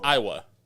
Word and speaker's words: Aiwa: Yeah, it's Iowa.